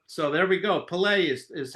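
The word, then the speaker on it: Pelé: I've called him Pele my whole life, and here you go, putting the accent on the lay part, so there we go. Pele is how he's known in the soccer world.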